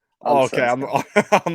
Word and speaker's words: Allsvenskan: How do you pronounce the top flight of Sweden? Allsvenskan. Oh, okay, Allsvenskan.